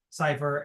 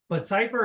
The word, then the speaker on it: Seifer: And I use that pronunciation because Zyger Gaming uses it, and that's how I heard it in my head growing up. So I stick with that. That's just why I say it.